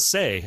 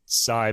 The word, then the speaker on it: Say: to say it, but the French say Fazıl say, as I guess English people would too. So I guess this is one of those cases where you can choose your pronunciation. I'll pick Sai because he's Turkish, and I just want to stick with his the way he grew up hearing his name.